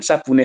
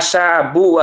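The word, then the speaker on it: شَابٌّ: Ya, sabune sampean lep itu mah. Sabu itu artinya pemuda ya. Kalau enggak ada y-nya bacanya sabun ya. Sabun artinya pemuda. Ya, saabu.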